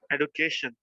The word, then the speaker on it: education: Education. Yes. Education. You see? Education. Education. So there is a stress on CA.